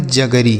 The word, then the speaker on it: jaggery: लिखा है JAGGERY, तो इसे क्या पढ़ेंगे? जगरी। क्या पढ़ेंगे मेरे भाई? JAGGERY, जगरी।